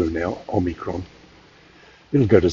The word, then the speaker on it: omicron: travel with this new omnicron variant on the on omicron gotta get the pronunciation right omicron that should that would